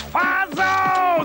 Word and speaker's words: Fatso: It's Fazo! The tea is silent!